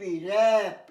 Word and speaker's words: WRAP: তো রাইট, তো র্যাপ, WRAP, র্যাপ, ডব্লিউটা উচ্চারণ হয় না।